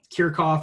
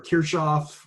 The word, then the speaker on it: Kirchhoff: four different ways so kirkoff or kirchoff or kirkhof i've heard it pronounced all those different ways uh but kirkhof's law